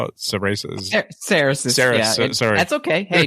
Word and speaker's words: Cerasis: Cerasis. Yeah, sorry. That's okay. Hey, just for everybody out there, if you say Cerasis, you're about 99% normal. That's what most people would say, because it's phonetically correct.